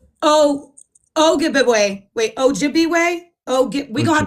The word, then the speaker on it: Ojibwe: Ojibwa. It's pronounced So is that what you Ojibwa.